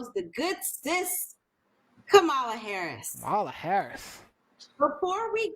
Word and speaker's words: Kamala: So for all of our fans and viewers out there, even for our critics, it's not Kamala, it's Kamala.